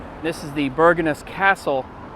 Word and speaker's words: Bergenhus: So I think in a Norwegian accent, this is pronounced Bergenhus.